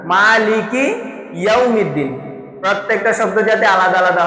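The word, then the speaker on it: يوم الدين: ওয়াও বলার সময়, ওয়াও উচ্চারণ করার সময় ঠোঁট পরিপূর্ণ গোল হবে। ওয়াও এবং পেশ যেখানে আসবে সেখানেই ঠোঁট গোল হবে।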